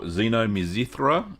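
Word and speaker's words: xynomizithra: last night my time, the sour mizithra, I think that's how you say it, or xenomizithra is how they say it in Greek.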